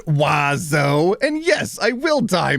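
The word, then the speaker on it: oiseau: No letter is pronounced the way that it should. And there are seven of them. It's pronounced wazo.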